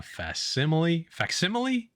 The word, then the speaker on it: facsimile: I picked a facsimile? I don't know how to say it. It's Facsimile, like fax machine, right?